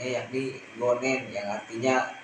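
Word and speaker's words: 五年: Kemudian ditambahkan nen atau penulisan kanjinya bisa dilihat di sebelah kiri dan cara bacanya yakni gonen yang artinya 5 tahun.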